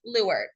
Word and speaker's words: leeward: It's spelled leeward, but it is pronounced lure.